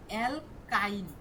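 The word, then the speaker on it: alkyne: এখানে উচ্চারণ করেন তো অ্যালকাইন, অ্যালকাইন। লাস্টে কি আইন উচ্চারণ হয় না?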